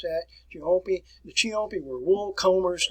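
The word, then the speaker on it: Ciompi: We had another one here, which was called the Florentine Chiampi, and that's where you want to pronounce that, Chiampi.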